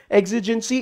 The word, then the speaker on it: exigency: exigency rhymes with emergency, ऐसे बहुत सारे शॉर्टकट्स मैं इसी चैनल पे देने वाला हूं, जुड़े रहना।